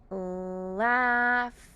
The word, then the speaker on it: laugh: like an A and this GH makes the sound F like an F in the word laugh laugh for example I laugh